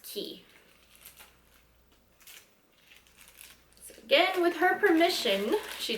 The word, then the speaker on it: Quay: the label key australia so it's spelled q-u-a-y but it's pronounced key again with her permission